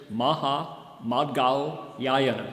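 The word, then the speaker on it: Mahāmaudgalyāyana: one in particular whose name was in sanskrit maha madgao yayana everybody say maha maha try it again maha mad gal seven syllables that's his name so what do we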